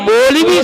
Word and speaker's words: मौलवी: उलमा से कहते हैं कि आपसे क्या लेना देना है मौली साहब? मौलवी नहीं कहते, मूली साहब। अजब तो यह है कि प्रोनाउंसिएशन भी गलत है, मौली नहीं है, मौलवी साहब।